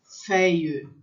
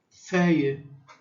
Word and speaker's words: feuille: Quando ele tem, nessa situação aqui, fica feuille, feuille. Então, eu tenho o EU, que vai dar esse som de E fechado, e esse I comprido, fica feuille.